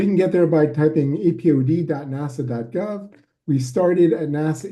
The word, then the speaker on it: APOD: of all what is apod as I we call it a there's no T we don't pronounce the T because it doesn't doesn't sound right so you can get there by typing apod nasa.gov we started at